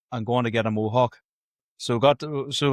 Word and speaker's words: Molhoek: I'm delighted to welcome on to the Sports Deny podcast this week, Bob Mohawk. Definitely not pronouncing that right, but like that's easy, is it?